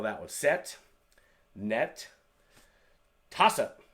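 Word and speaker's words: 다섯: Taset. As you can see, toss-ut.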